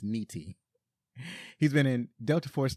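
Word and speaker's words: Nitti: Graffiti Billy Dro played Frank NTI or I'm sorry it's probably pronounced Niti he's been in Delta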